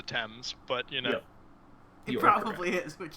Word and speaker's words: Thames: and thrown them into the Thames the t'aime sure American I can mispronounce everything I'm like 90% sure it's the Thames but you know probably